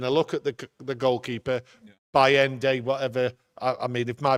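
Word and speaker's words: Bayındır: And then I look at the goalkeeper, Bayende, whatever. I mean, if my pronunciation's not right. Bayende, thank you.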